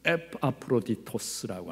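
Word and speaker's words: Ἐπαφρόδιτος: 그러면 에바브라는 무슨 뜻이냐면, 원래 이제 헬라식으로 발음하면 에파프로디토스라고 하는 이름이에요. 에파프로디토스, 아프로디테로부터 사랑을 받은 그런 말입니다.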